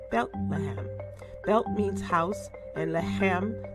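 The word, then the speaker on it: בית לחם: In Hebrew, the name is pronounced Bethlehem.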